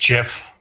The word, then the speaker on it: Geoff: Yeah, it's actually pronounced Jeff.